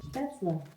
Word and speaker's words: Spätzle: Today we are making German Spätzle. Spätzle. Alexa, how do you say Spätzle in German? Spätzle.